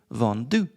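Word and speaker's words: vendu: And then you add a U with no accents on it which is pronounced vu. Vondu.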